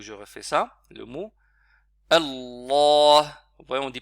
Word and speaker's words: Allah: Il n'est pas écrit, on n'écrit pas le alif, mais ça se on ne prononce pas Allah. Allah. C'est une erreur que certains font, mais il faudra allonger un petit peu.